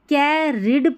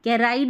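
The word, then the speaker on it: carried: ही अब इसको कैरिड पढ़ते हैं। डबल आर आई ई डी है ना? रिड करके कैराइड नहीं पढ़ना है।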